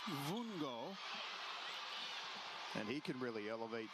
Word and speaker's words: Vungo: First name is B E N C A O Benau and the last name V U N G O pronounced Vongo.